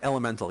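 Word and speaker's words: Element4l: of dark-sided on that's is that how you said that's like elemental yeah well an element for L it's spelt element for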